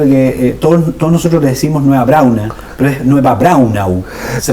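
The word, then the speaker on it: Nueva Braunau: Siempre me llamaba la atención, don Pedro, que todos nosotros le decimos nueva brauna, pero es nueva brauna. Se pronuncia la U. General, generalmente la gente se come la U.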